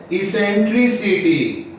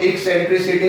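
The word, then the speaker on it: eccentricity: Called, इसको कहते हैं इसेंट्रिसिटी, इसेंट्रिसिटी, बस सिंपल इस पर इसेंट्री, इसको समटाइम्स लोग एक्सेंट्रिसिटी भी प्रोनाउंस करते हैं, हम प्रोनाउंस कर रहे हैं इसेंट्रिसिटी। एक्सेंट्रिसिटी भी हमने कुछ लोगों को बोलते सुना है, चलिए इस, ठीक है, इसेंट्रिसिटी।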